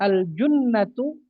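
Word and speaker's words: الجُنَّة: Kemudian aljunnatu jimnya dommah artinya tameng ya.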